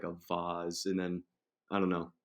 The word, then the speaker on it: V*A*S*E: came up with uh vase pronounced vaz and uh it looks cool with the v the a kind of like lining up and then the word is just like a vaz and then i don't